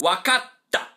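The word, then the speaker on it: わかった: What this small t does is that it gives it a little pause. So, the proper way to pronounce it is wakata.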